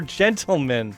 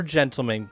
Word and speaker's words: Ontleman: Pronounced as Sir Gentleman. Okay, gotcha. Sir Gentleman.